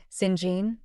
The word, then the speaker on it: St John: to the river's siblings St John pronounced singen Diana and Mary Rivers